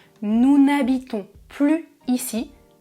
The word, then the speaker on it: plus: Plus ou moins. Plus ou moins. Ça signifie moyen. Pas vraiment. Ici, on fait la liaison. Je prononce plus.